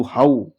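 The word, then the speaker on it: how: एच ओ डब्ल्यू हाउ हो नहीं पढ़ते हैं। डब्ल्यू ओ डब्ल्यू वाओ क्या पढ़ते हैं? वाऊ। इस वर्ड में ओ डब्ल्यू को औ से पढ़ते हैं। ओ से नहीं पढ़ते हैं।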